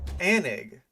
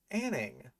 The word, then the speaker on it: Anning: Anig. Anning. Mary Anning. She's the godmother of paleontologies. Say her name right.